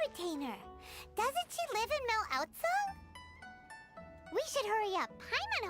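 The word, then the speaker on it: Mondstadt: Doesn't she live in Mel Outsong? We should hurry up. Paimon hopes we can find her there. Outsong. That's how you pronounce it.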